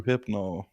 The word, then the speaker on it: Rohypnol: So Ruhypnol, I believe, is the correct pronunciation.